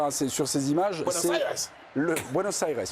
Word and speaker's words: Buenos Aires: Buenos Aires, oui, en effet. L'accent tonique est important.